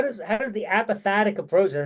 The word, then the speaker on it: apophatic: So how does the apophatic approach, did I say it right?